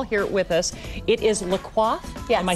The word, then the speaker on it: La Coiffe: It is Le Coif. Yes. Am I saying that right? Yes, you're pronouncing Salon it correct.